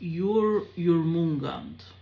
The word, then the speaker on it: Jormungand: Okay, so it's pronounced Jormungand.